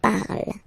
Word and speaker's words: parle: remember, and after that you just put the ending e, and then the way to pronounce it is je parle, parle. So remember, we put it, okay, but then we don't really pronounce it, je parle, okay.